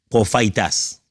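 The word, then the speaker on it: προφήτης: profatassé profatas bah Profa profaitas c'est comme ça qu'on prononce prof itas profitas vient de deux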